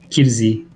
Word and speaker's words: Kyrzy: I would say Kirzi. And that's perfect. Okay. Like it's Polish name, so RC it's like it's pretty specific.